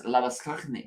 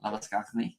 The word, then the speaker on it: Labuschagne: Fun fact: if it's an Afrikaans name and pronounced that way, it is Labuschagne. Skachnik. Yep. Oh. Labuschagne.